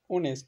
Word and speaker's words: honest: কতগুলো বিশেষ ওয়ার্ড আছে, যে বিশেষ ওয়ার্ডগুলোতে যদি প্রথমে অর্থাৎ ওয়ার্ডের শুরুতেই এইচ যেটা থাকে সেটা সাইলেন্ট থাকে। যেমন honour, HONOUR, honour. অনেস্ট, HONEST, অনেস্ট।